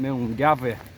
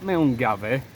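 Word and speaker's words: Milngavie: And because I'm from Yorkshire and we say things how it's spelt, I've been calling the start point Miongavie. Now, it's not miongavie, it's miongavie. So, if anybody wants to correct me if I'm still saying it wrong, feel free.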